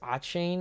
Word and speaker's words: Achane: I think it's Achane. I think that's how you pronounce it.